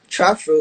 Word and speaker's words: TrapFro: with this TrapFro sound, am I saying it wrong? It's TrapFro, Trap right? TrapFro.